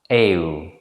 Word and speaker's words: eeuw: This is generally pronounced as a compound vowel, eeuw. It begins with the vowel a and ends in the vowel u, eeuw.